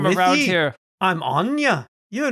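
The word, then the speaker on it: Áine: Oh I'm no, it's Aang. another troll. Oh, Anya. I'm Anya. She pronounces it Anya.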